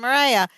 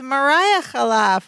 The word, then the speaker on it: Mariah: they call the Wind Mariah that's what oh it's Mariah I'm so sorry Mariah I think we've been pronouncing it wrong this whole time because she says